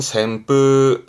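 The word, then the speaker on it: せんぷう: 발음은 샘뿌 샘 선풍이 뭘까요?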